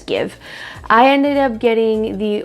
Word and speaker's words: GXVE: it's called Give Beauty, but it's written as GXVE, but I've heard it being pronounced as Give.